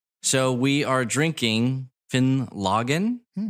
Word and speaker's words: Finlaggan: so we are drinking finn logan is how it's said i got this at